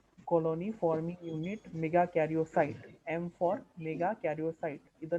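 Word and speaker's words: megakaryocyte: Mega कैरियोसाइट का pronunciation is mega कैरियोसाइट, ठीक है।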